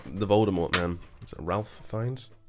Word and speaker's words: Voldemort: fucking Yeah, awful it's pronounced Voldemort.